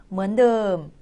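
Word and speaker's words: เหมือนเดิม: 먼드 글자가 좀 이상한데요. 이거는 드엄을 짧게 해준 거라고 보시면 돼요. 우리나라에 없는 모음이에요. 그래서 라고 발음해 주시는데요. 늠 해서 먼듬 하게 되면 똑같다라는 의미가 있습니다.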